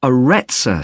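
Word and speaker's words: Arretsa: It's called the Aretsa Centre. That's spelled A-R-R-E-T-S-A.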